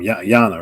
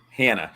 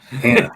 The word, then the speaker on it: Hannah: Literally, just Hannah. don't pronounce the C. Right, after you see it a while, and I have subtitles on, so just so when you see the name, just don't pronounce the C. It's Hannah.